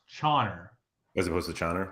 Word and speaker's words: Caner: It's not Kaner. It's Chauner, Chauny. Okay. All right. So it's supposed to be ch instead of ka.